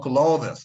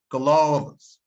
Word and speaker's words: clothes: So please do not pronounce it as clothes. It's not clothes. It's clothes.